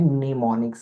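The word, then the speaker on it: mnemonics: और इंग्लिश के वर्ड्स जो होते हैं उनको हम नाम देते हैं निमोनिक्स का। ठीक है? एब्रविएशन है। ठीक है? निमोनिक्स है। इसको आपने पढ़ना ऐसे है। एम जो है वो साइलेंट हो जाएगा।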